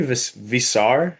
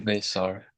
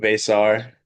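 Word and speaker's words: Veesaar: and uh Henry Visar. Visar um him he transferred over from Arizona. Apologies if I butchered the name Basar, but I think Basar Basar. Okay, I'll be locked into that during the broadcast.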